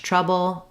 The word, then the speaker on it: trouble: travel in trouble trouble theb sound is both lips together together so it's made the same way as the P sound and um as I moving from the B to the O B trouble bull um my is very short and reduced again because I'm stressing on the TR syllable and my bull is